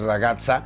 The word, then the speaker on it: ragazza: del sur para de usar la doble seta y decir ragazza ragazza ragazzas muy muy sutiles